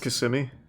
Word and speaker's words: Kissimmee: a double murder trial isn't it pronounced kissimmee the defendant jason claire